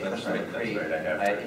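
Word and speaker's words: Cushlamochree: It's pronounced. And so whenever I say Kushlamacree, you have the acetate discs of the second radio version of that.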